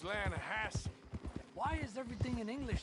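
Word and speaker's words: Lannahechee: The other day I rode down to the Lanahei River.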